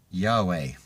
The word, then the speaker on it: Yahweh: Yahud Vehud is pronounced Yahweh, and it means I am that I am, and also the tetragrammaton.